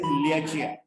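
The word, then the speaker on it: Lieque: The Chinese name of the lung, that lung 7 is Liachia. मगर वो pronunciation लियाचिया करते हैं, स्पेलिंग उसका बड़ा अजीब है, LIEGUE.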